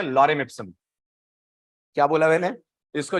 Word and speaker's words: Lorem: तो आप लॉरेम लिखते हैं, स्पेलिंग है LOREM, लॉरेम।